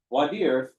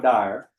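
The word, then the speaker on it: voir dire: So, uh, wer actually, I'm sorry, that is the proper French pronunciation down here in Texas. We call it bire because we got to put a little ye in our hall.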